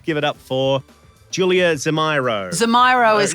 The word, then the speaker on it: Zemiro: How did he pronounce your name? Julia Zemiro. So that was, my pronunciation was close to his. Yeah, and I said to him at one point, you know it's Zemiro.